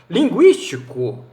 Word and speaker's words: linguístico: Por exemplo, linguístico, U é pronunciado.